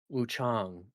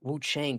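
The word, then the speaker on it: Wuchang: hard, it's like, I don't think they go that hard on the A, and it's like, "Ah" as in father, so Wu Chang. I was like, "Okay." I was like, "There, that's how you pronounce it." Because like, I kept just saying Wukong to be careful, but it's not like it's still CH, it's like, I know that's wrong, but it's like, Wu Chang doesn't sound right to me.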